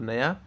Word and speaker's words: knew: Okay, let's see next न्यू, NEW, न्यू, न्यू मतलब नया, एन ये नया हो गया, और ये है KNEW, इसको भी न्यू कहते हैं क्योंकि यहाँ पे के साइलेंट है, और ये KNO, KNOW, नो, नो का पास्ट टेंस है न्यू।